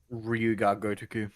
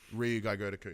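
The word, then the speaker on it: Ryu Ga Gotoku: It's Ryuga Gotoku. Ryuga Gotoku.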